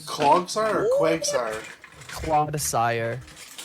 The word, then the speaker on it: Clodsire: Clodsire. How do you spell that? You're a Clod, sire.